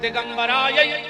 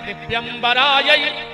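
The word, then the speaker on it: दिव्याम्बराय: तो आदमी जल्दी जल्दी में कहते हैं दिगंबराय च दिगंबरायो, जबकि शुद्ध उच्चारण है दिव्यंबराय च दिगंबरायो।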